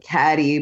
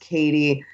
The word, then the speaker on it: Cady: Like it's spelled Cady, but it's like Caddy, but it's pronounced Katie.